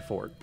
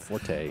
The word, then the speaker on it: forte: but grammar is my fort he wants to point out that the word is not Forte all for it so